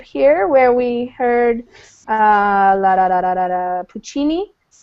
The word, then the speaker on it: Puccini: the Italian Jew but we don't say puck see me you know like we say Puccini because we know about